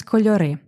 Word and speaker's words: кольори: кольори мої два кольори правильний наголос кольори Два кольори але тут щоби утворити певну мелодію ми змінюємо наголос І це нормально Два кольори мої два